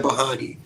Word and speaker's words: Bahani: There's different ways to pronounce it. So. is how you can do it, and then Bahani.